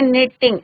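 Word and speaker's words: knitting: द ओल्ड मैन वॉज, my mother was निटिंग, के silent. निटिंग में क्या होता है बच्चों? के साइलेंट रहता है, निटिंग, NITTING।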